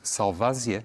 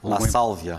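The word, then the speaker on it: Lasalvia: Há também um jogador que é representado por Edgardo Salvasia, é assim que se pronuncia? La Sálvia. La Sálvia, Luís.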